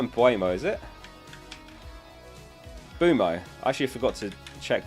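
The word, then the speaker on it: Mbeumo: let me scroll up the m is silent uo it's not uo and be wumo no it's not it's so it's just bumo and boomo I only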